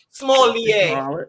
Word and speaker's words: Smollett: Smollett.